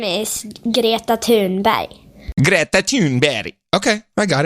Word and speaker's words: Greta Thunberg: So, this is how the Swedish kids pronounce Greta Thunberg pronounce her name. I saw this. Here we go. Her name is Greta Thunberg. Greta Thunberg.